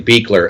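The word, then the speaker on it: Buechler: our new director yeah his name is pronounced actually Beaker as it says on his page does it actually yep which I loved that was a great uh great he needs to be known by his name correct correctly pronounced so it's Beaker the director of the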